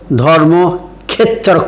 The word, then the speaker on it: ধর্মক্ষেত্র: বাংলা ভাষা যজুর্বেদীয় উচ্চারণ অনুসরণ করে বলে ধর্মক্ষেত্রের উচ্চারণ করব ধর্মক্ষেত্র, ক্ষয়ে একা তয়রা ফেলা ক্ষেত্র, কংস ক্ষয়ে ক্ষয় নয়।